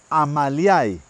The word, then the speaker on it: Amaliae: Vamos a comenzar por esta bella planta que es una Dracula Amaliae. Dracula Amalia, Amaliae se escribe, Dracula Amalia.